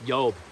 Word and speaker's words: Job: you consider my servant yob pronounced yob old days before the J y'all there's a lot of things that happened before the J came into the English alphabet something to consider but